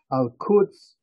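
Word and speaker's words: القدس: Yerushalayim, the Jewish pronunciation, the Hebrew pronunciation, Al-Quds, the Arabic pronunciation, which is probably a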